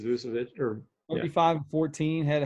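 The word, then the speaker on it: Vučević: Nikola Vucevic. Yeah, or So some people say Vucevic, or people say it different, but I think it's Vucevic.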